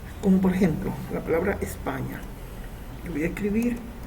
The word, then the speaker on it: España: Entonces ahí yo tengo una palabra que no es aguda, es grave, porque se acentúa en la penúltima sílaba. En este caso España.